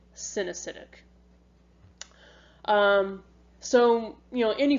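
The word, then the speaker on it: coenocytic: the acetate hyphae is sewn acidic actually i'm sorry that's synesthetic so these you spell it c-o-e-n-o-c-y-t-i-c but you say it sin acidic um so you know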